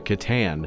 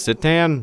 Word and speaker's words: C'tan: for saying words wrong I thought it was actually pronounce sitan which okay cool it might be I take it back I'm going to say it right from now on but